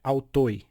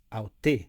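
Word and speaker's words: αὐτῷ: tornar autto Lembrando que eu não posso pronunciar o iota não é autoi é alto e não é altei é aute o que significa alto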